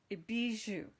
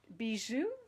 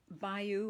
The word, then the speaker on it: bijou: now this designer paper is called butterfly bijou bijou i'm i'm i actually googled how to say it because i wasn't sure how to do it and um and i even googled the meaning so it's not bayou or something like that it's be and it's